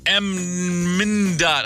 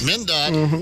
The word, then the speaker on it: MnDOT: If you could control an MnDOT, how do you say that? MnDOT? MnDOT.